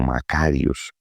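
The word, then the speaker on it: μακάριος: También me parece interesante que podamos mencionar que esta palabra que usted encuentra bienaventurados es una palabra que en el griego se pronuncia como macarios, que tiene una raíz que es mac, que indica algo grande, algo de larga duración.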